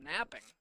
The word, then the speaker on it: knapping: Knapping, which I'm sure is pronounced napping.